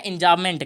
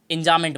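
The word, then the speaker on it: enjambment: B silent होता है, इंजाबमेंट कहें, इंजाबमेंट बोलते हैं।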